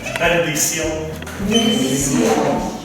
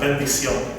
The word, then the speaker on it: Bendición: Try to pronounce it as if you were speaking Japanese. Bendición. So it's very close. So Bendición. So this is called Bendición.